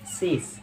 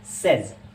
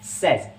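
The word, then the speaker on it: says: ज़्यादातर लोग इसको कहते हैं सेस, सेस। जैसे हम प्रेजेंट इंडेफिनिट में यूज़ करते हैं ना, यूसुफ सेस, मासूम सेस, सोमिया सेस, तो इसको सेस नहीं कहते हैं, इसकी प्रोनाउंसिएशन होती है सेज। जी हाँ, सेज, SEZ, सेज। सो आज से आप कभी भी कहिएगा तो सेज कहिएगा, ना कि सेस।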